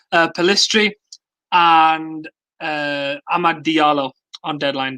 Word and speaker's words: Pellistri: forgotten his name already, Facundo Pellistri, and Amad Diallo on deadline day.